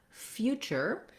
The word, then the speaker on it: future: When we're looking at future, we have, again, the few beginning. Let's write it this way this time. Few. And then our letter T, with this TU, says the ch sound.